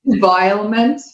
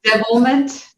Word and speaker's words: Devilment: Did you just call it Devilement? Isn't it Devilment?